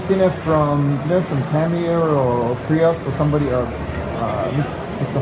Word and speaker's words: Tamiya: 失礼しました。たまに僕は英語がちょっと喋れないですから、どうしても発音がちょっと変わってます。So, I've heard people say different versions like Tamiya, but it's all Japanese is quite flat. It's just ta, mi, ya.